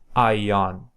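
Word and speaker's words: αἰών: a aspiration so high this is just to indicate that you don't have to use aspiration you should not aspirate so just pronounce it normally as a regular I ion ion which means like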